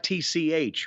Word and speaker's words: Savich: So that's Savitch, right? Savich is how it is spelled here.